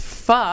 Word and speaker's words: pho: all correctly pronounced pho.